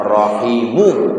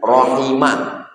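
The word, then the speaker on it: رحمه: Bacanya rahimu. Marfu bukan rahima. Bukan rahimi. Bukan majrur.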